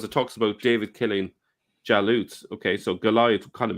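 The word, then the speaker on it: جالوت: Now, you can see here that the translator, the word in Arabic is jalut. That's pronounced as galut in Egypt, right?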